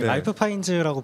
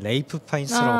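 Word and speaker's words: Ralph Fiennes: 이렇게 양보하기 시작하면 내년에 내년에 아니 그래서 이번에 그 코난이 그 라이프 파인즈라고 부르는 것 때문에 레이프 파인즈라고 발라야 된다. 불러야 된다라고 했는데 이번에도 못 받으면은 부르겠다고 했는데 결국엔 그렇게 부르게 되.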